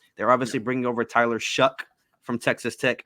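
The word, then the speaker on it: Shough: They're obviously bringing over Tyler Shuck from Texas Tech. I know we mispronounced his name when we did the Texas Tech preview earlier in the year. That don't look like no dang Shuck.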